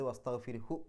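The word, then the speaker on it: واستغفره: നീട്ടാതെയാണ് അവിടെ കൂട്ടിപ്പാരായണം ചെയ്യുന്ന സമയത്ത് വസ്തഗ്ഫിർഹു എന്ന് മാത്രമേ പറയാവൂ, വസ്തഗ്ഫിർഹു എന്ന് നീട്ടൂല.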